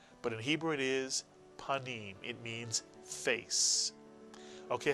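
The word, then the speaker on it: פנים: The first syllable is pa, and the second syllable is neem, mitsuyan, neem. Put the word together. Panim is correct, mitsuyan.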